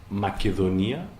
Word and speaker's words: Macedonia: Non, enfin, alors, en grec, Macédoine, ça se prononce Macedonia. En français, c'est Macédoine. En anglais, c'est Macedonia. Donc, dans les 3 cas de figure, on a une même phonétique.